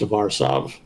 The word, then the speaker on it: Warsaw: I was very sad to find that's actually the totally incorrect pronunciation. It is actually pronounced Warsaw.